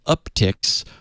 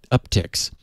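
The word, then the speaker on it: Uptycs: encountered an analysis assembled by the security firm uptix which is spelled u p t y c s up ticks um of the most commonly used lol bins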